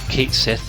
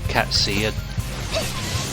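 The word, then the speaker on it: Cait Sith: It's up for debate how you pronounce that enemy's name, because die-hard Final Fantasy fans will remember that Kate Sith or Cat C was a character in Final Fantasy VII.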